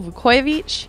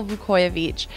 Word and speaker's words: Vukojevic: our Rangers family Michael Vuckovich yes we have been saying it wrong this whole time it's Michael vu coy of each Michael you're here joining